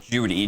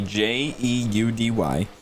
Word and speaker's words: Jeudy: And we think it's pronounced Judy, Jeudy.